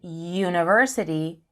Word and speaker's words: university: Even though U is a vowel, in university, it sounds like it begins with a Y.